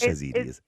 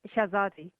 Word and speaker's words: Shahzadi: Shahzadi, is it? It is Shahzadi. It's Shahzadi, Dr. Shahzadi, Okay. yes. I do apologise. Almost right.